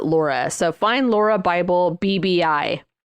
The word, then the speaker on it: Lauria: i a but it's they pronounce it Laura so find Laura Bible